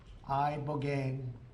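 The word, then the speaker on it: ibogaine: In 2024, study from Stanford University, 30 special operation veterans with traumatic brain injuries underwent, it's called I Boane treatment. I Boane. Remember the name? Is that pronounced relatively properly?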